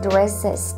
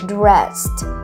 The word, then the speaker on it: dressed: ตรงนี้เราออกเสียงเป็น get dressed. ไม่ใช่ get dresses. แต่เป็น get dressed.